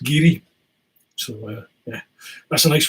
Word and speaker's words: Garioch: Well, it's written Glengarioch, but where I'm from in the northeast, that's pronounced Geary.